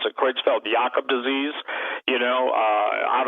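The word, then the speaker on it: Creutzfeldt-Jakob: pronounced better it looks like jacob but they pronounce it kreutzfeld jacob disease you know uh out of the jungles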